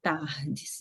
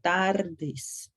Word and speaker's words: tardes: Então, lembrem-se, ao pronunciar, vocês devem pronunciar buenas tardes e não tardes, igual português. A letra R, ela tem esse som, tardes.